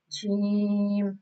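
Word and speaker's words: جيم: Jim. This is pronounced on the middle part of the tongue, touching the middle part of the palate, like out of the mouth.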